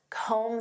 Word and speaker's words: comb: Next, comb through. Do you have time to comb through this report? Do you know what this means? To comb through. And notice that B is silent.